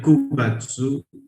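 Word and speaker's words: 九月: In this month, Shigatsu, Shigatsu, and Kugatsu, these are specific pronunciation. ये change नहीं होते. We never use Yongatsu, Gatsu और Kyugatsu. अगर आप ये यूज करते हो और आपको कोई पढ़ाता है ये, तो दिस इज रॉन्ग.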